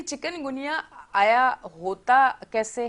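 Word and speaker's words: chikungunya: हाँ, तो तलफ़्फ़ुज़ प्रोनाउंसिएशन बनती है चिकनगुनिया।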